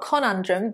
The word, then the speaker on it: conundrum: The stress is on the second syllable. It's not conundrum, but conundrum. So this simply means problem, issue.